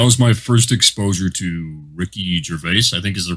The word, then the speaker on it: Ricky Gervais: club and that was my first exposure to ricky gervais i think is the correct way to pronounce his name yeah we've talked a little